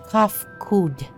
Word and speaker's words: Kafkud: As for nomenclature to addressing my individual person, I believe I would be pronounced Kafkud.